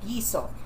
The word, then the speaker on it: guiso: it's a different kind of broth but it's pronounced the same way with a GU i s o gizo and gisada is g u i s a